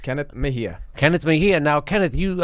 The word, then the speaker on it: Mejia: 34 he's a green Party candidate it's Kenneth Mahia I pronounced that correct right correct Kenneth Mahia Kenneth Mahia now Kenneth you uh you look